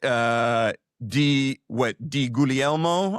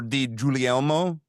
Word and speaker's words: Di Guglielmo: We will delve deeper into this, but Di Guglielmo or Di Giulielmo debate goes on. Yes, yeah. I gave it a soft G, which apparently the Spirit